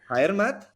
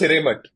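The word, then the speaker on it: Hiremath: Oh, it's not DJ Khalid, but it's the co-founder of Loom, Vinay Higher Math. Anyway, Hiremat. in a blog It's post, pronounced Hiremat.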